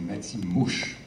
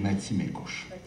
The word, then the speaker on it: Matimekush: Vous avez dit Matimouche. C'est pas Matimouche, c'est Matimécouche. Je vous pardonne.